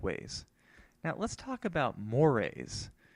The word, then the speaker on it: mores: Now, let's talk about mores. I know it looks like moors, but it's actually pronounced mores.